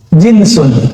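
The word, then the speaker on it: جنس: Jinsun, jins. Pakai jins ya Pak? Itu beda lagi ya. Jins itu bacanya ya. Kalau ini jinsun, jim nun sin, jenis bahasa Indonesia, genus dalam bahasa pengetahuan lama ya.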